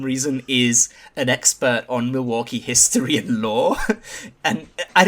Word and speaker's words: Milwaukee: Yeah, which is I cannot hear the word Milwaukee without saying it's actually pronounced Milwaukee.